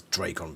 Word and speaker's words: Dracon: So yeah, there's quite a lot of confirmation that it is Drake on beams.